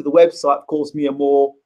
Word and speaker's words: Mhoor: I haven't done that just yet, but it is pronounced Mhoor the same way the North African Moors, or the name, common name Mhoor, that's spelled Moore, but it's Mia, that's